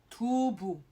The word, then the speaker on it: 두부: So for example, 두부, bu and not pu, not 두부, but 두부, 두부, okay, 두부.